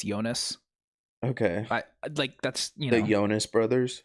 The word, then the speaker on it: Jonas: Swiss Moroccan, it's spelled like Jonas, but it's Switzerland, so I'm going to say it's Jonas.